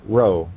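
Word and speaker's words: rho: to me in Greek it represents the letter row as in row row row your boat mind it is pronounced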